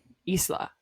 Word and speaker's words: Isla: I don't know how we say her name. This is one I'm very confused on. Isla? Isla. That's what I thought. Isla. Because she said like Isla.